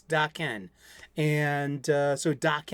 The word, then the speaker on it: Daken: I pronounce Dakin's name is it Deacon or is it DOC can't you should know it's doc Ken and uh so doc